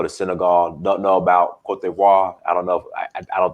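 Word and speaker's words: Côte d'Ivoire: Is that how you pronounce it? Cote d'Ivory? No, it's Cote d'Ivoire. Cote d'Ivoire. It's Ivory Coast in English or Cote d'Ivoire. Cote d'Ivoire in Francais, in French. Did you take French, Fitzgerald?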